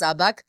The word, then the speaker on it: Sabag: Though it's spelled with an ALF in front, it's pronounced Sabag.